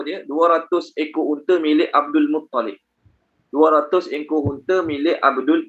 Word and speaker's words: Abdul Muttalib: Sebab dia ingat sabdu atas lam. Sabdu bukan atas lam, sabdu atas ta. Okey, sabdu atas ta. Jadi sebut dia Abdul Muttalib, bukan Abdul Muttalib. Nah, kebanyakan orang kita letak nama Abdul Muttalib, L double. Sebenarnya bukan L double, T double.